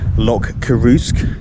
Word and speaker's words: Loch Coruisk: Just got off the ferry from Elgol to Loch Coruisk, is how you pronounce it apparently, and as you can tell